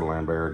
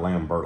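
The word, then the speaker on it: Lambert: badass I mean Christopher lambar did you know lamb was it lambar lambar lamber whatever he's French so it's not lamb BT like everybody says it it's some kind of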